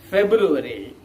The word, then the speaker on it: February: second month is february here what you have to note is that the second month february is pronounced in four different ways one is february the